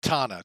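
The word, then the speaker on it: Tanana: Now, Calhoun Memorial is actually, I believe it's pronounced Tana. I'll have to look it up here real quick. Hang on. Whoops. Yeah, Tana.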